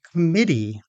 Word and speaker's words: committee: and I said, "Oh, you mean committee." He had stressed the wrong syllable in that word.